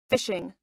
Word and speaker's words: phishing: I make myself laugh fishing pronounce fishing as an email scam